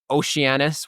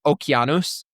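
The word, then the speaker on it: Ōkeanos: The most important that it originated from Oceananis would be how you would see it if you were pronouncing it in modern English or Okanos if you were looking at it in probably a closer to correct pronunciation.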